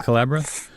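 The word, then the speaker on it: Collabora: a developer you're a former engineering manager of kelabra is that how you say that kelabra yeah Culebra you're an avid snowboarder yeah it's a well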